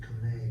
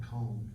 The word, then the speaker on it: Kone: I'm glad you said Kone, cause I would've called it Cone. Yeah, Marion, I think Marion's here, you pronounce it Kone, right?